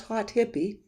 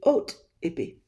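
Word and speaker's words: Haute Hippie: say this is pronounced hot hippie and if you're French that would be oat ippy but I'm not French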